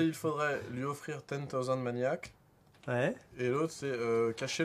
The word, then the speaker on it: Maniacs: Lui offrir 10,000 Maniacs. Ouais. Ok. Moi, j'ai toujours entendu les gens pas prononcer le S sur Maniacs en plus, donc c'est pas un souci.